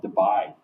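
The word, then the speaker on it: Debye: measured in units called Dubai and we can actually measure this experimentally if we wanted to divide the unit and it's not spelled like the spelled differently d-y-e yeah not Dubai it reminds me of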